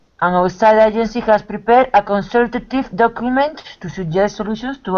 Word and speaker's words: consultative: abusivo yes AB consultive consultative consultative right you you can't lose the the T and you have to actually add a little syllable so consultative just like we have